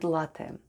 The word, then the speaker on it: ЛАТТЕ: let's spell the word ЛАТТЕ /latte/: the first sound is /l/ then goes /a/ then double /t/ and E at the end. E at the end of ЛАТТЕ /latte/ sounds like Э /e/.